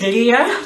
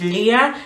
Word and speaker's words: Leah: And in English they pronounce it as Leah. In Swahili they say Leah. And Spanish too. I noticed Spanish people say Leah. So so because I'm gonna speak Swahili, I'm gonna say Leah.